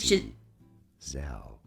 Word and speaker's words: Giselle: It is Giselle. Giselle? That second Zel syllable.